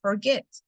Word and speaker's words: forget: Igual pasa con forget, no digo forget, digo forget. Entonces el stress está en la última sílaba, igual terminan en consonante, vocal, consonante, consonante, vocal, consonante, duplicamos la última consonante.